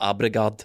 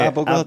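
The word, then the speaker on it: Abildgaard: I can only remember the mispronunciation, but it's not Abregard. What's his name? Abelgard.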